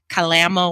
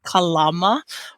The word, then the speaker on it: Kalama: a city there in Washington state which everybody pronounces incorrectly by calling it Kalama Washington but it's actually Kalama Washington and Kalama is a very large strong